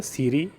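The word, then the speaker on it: 整理: पहला जो होता है वो होता है सीरी, दूसरा होता है सेटोन, तीसरा होता है सीसो, चौथा होता है सिकेट्सु और पांचवा होता है सित्सुके।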